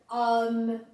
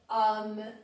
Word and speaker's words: homme: mas para nossa alegria, no começo existe só uma, que é o H, ou H em francês. Então lá você lê hôtel, homme, habiter, hommage. Hôtel, homme, habiter, hommage.